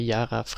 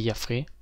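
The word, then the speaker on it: YafaRay: que Lux render et yarf il y a je crois que c'est yfr ouais c'est comme ça qu'on le prononce et le blender render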